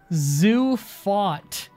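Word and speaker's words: Safed: It's pronounced Zufot is how you pronounce Safid.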